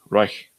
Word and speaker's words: Reich: Reich. I don't know. I'm going to say Reich. That's how you pronounce it in the correct Germanic way.